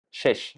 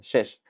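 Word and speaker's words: שש: El lino fino, que en hebreo es shesh. Son dos shin. Shesh, así se pronuncia, shesh.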